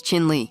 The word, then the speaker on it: Chin Lee: Chinli grabbed his hand, crushed it, showed he wasn't a pushover, and made it clear, "Say my name right, it's Chin Lee."